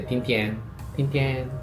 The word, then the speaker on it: Tính tiền: (pronounced like "sin chao") Bill (please): Tính tiền (pronounced like "ting tien) For the bill, you say "Tính tiền!" and make a signature in the air. So when I say Tính tiền, they say, Tính tiền!